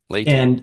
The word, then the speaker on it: Leyte: some displays and some talks about, is it Leyte? Am I Hmm. pronouncing that Yes. correctly? Yes. Uh-huh. Late.